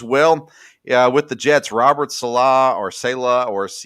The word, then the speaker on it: Saleh: Robert Saleh, I think it's Saleh is how you say that.